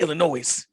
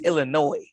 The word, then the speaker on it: Illinois: because i'll be like illinois and i'll be like illinois and they'd be like you know you've been saying it wrong it's illinois the s is silent i was like oh